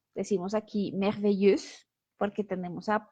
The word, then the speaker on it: merveilleuse: siempre esa E, U, X final no se pronuncia solamente cuando estamos hablando del femenino. Entonces, cuando pasamos este adjetivo al femenino, decimos merveilleuse.